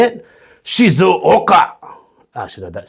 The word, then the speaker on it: Shizuoka: Let me just pronounce that properly. Shizuoka. Okay, that's how samurais would say it. Shizuoka.